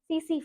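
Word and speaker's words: tsetse: it is spread by the right way to say it is it is spread by cc fly okay so sleeping sickness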